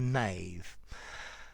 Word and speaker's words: knave: boy okay so a Nave if you enjoyed the video give it a rating subscribe to my channel and I will see you soon bye for now Nave with a k